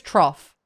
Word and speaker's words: trough: I think it's trough. It's like cough trough.